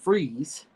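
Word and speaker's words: Fries: Victor FZ, pronounced Freeze, was an accomplished cryogenicist whose believed beloved wife Nora was struck with a fatal uh degenerative disease.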